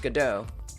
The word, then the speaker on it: Godot: uh so I already knew that this was pronounced gdau cuz I have seen this play and I've